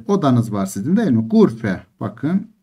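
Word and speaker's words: غرفة: var sizin değil mi gurfe bakın gur fün diye yazılır ama gurfe diye okunur Siz gurf tün yazacaksınız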